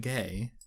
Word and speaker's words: Gueye: Adrisagana Gay. Yeah, and that's what's funny. His last name is Gueye, but it's pronounced Gay, I'm pretty sure.